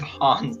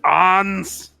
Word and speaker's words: Hans: think you should give hans back his medication yeah i gave him some plus some just because it is pronounced ons not hans get out of here